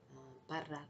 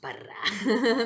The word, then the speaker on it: Parra: English way, is Parra, or Para. um, I personally like to roll my R's, Parra.